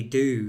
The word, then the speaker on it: Dhu: It's phonetically do. If you say do, it's like dove, which means black or dark or gloomy.